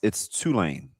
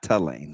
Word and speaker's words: Tulane: Jimmy Neutron, you do know it's Tulane, not Tulane. That's Tulane. Like 2 chains. I'm gonna AI how to pronounce Tulane. It's Tulane.